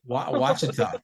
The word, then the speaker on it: Ouachita: Ouachita.